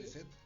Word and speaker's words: Lisette: Se pronuncia, sí, Lisette.